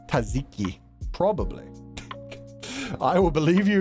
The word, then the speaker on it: tzatziki: Okay, it's tzatziki. I love how one of them was just like, hey, it's just an S. Don't worry about it. God damn it. I think it's pronounced Satsiki. Well, we heard the proper Greek pronunciation, so that works.